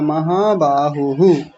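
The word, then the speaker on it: महाबाहुः: ही सुंदर उच्चारण आपका बस एक छोटा सा ये ध्यान दीजिए महाबाहु यहां विसर्ग भी है तो वो साथ में बोला जाएगा महाबाहु ऐसा ठीक है ठीक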